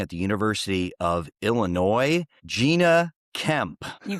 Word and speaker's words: Jeana: It's Gina.